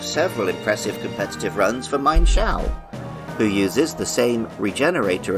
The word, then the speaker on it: Mienshao: I was inclined to agree with Andy that Mienshao feels like the right pronunciation, rather than Mienshao. However, in the anime and games, where Mienfoo and later Mienshao are used by the Shallow City gym leader Karina, the pronunciation is Mine, as taken from Ermine.